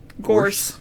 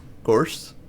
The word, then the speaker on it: Gorse: Pronunciation. Gorse. Gorse.